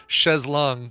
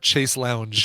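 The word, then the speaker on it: chaise longue: to wet leg for helping everybody it's uh chz not Chase Lounge Chase loung no that's Shay a shase Lou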